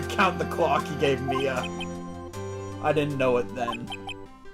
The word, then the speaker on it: Mia: See, M-I-A, to a lot of people, for some reason, they think it's pronounced Maya.